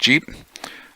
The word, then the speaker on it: Jeep: uh quarter ton vehicle GP pronounced Jeep it's also as they